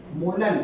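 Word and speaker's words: molal: दूंगा स्मॉल एम, और इसको क्या प्रोनाउंस कर दूंगा 2 मोलल।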